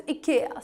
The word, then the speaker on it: IKEA: actually is, it is IKEA, IKEA. But usually English speaking people end up pronouncing it as IKEA, IKEA. But the correct Swedish pronunciation is IKEA.